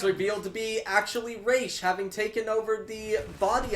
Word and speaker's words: Ra's: person it's like yeah razor right it's actually pronounced race it's called misconception yeah